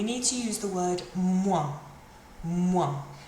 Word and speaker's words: moins: to use the word moins. Moins. Moins means minus, so plus meant plus, moins means minus. Moins. Finishes in your nose, quite a nasal sound that one.